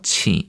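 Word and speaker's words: 请: 그래서 칭 이렇게 됩니다. 중국어의 Q 발음은 크 발음이 아니라 저 CH 혹은 E 발음이 됩니다.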